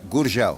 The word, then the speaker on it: Gurgel: Gur. Like gur. Gur. Gur. Gurgel.